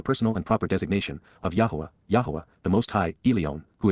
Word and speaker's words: Yahowah: be familiar with and respect, Hyphal imperfect Jussive, Yahowah, the proper pronunciation of the name of Eloah, God as